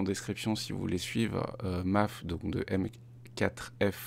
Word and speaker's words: M4F: si vous voulez suivre MAAF donc de m4f ça s'écrit m4f mais ça se prononce MAAF je me suis fait